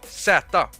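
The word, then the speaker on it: zäta: th the letter is sata and um we pronounce it like z or yeah yeah that's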